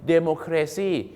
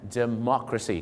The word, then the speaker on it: democracy: ฮะ ประจำ นะ ครับ หลาย คน ชอบ ไป ออก เสียง ว่า democracy เอ๊ะ เซี่ แปล ว่า บ้า อย่าง งี้ แปล ว่า ประชาธิปไตย บ้า ๆ หรือ เปล่า ครับ ผม แหม ไม่ ใช่ นะ ครับ ประชาธิปไตย ต้อง ออก เสียง ว่า เมซี นั่น เอง ครับ เมาะ ฮะ เหมือน ป่า ละเมาะ อะไร เงี้ย นะ ฮะ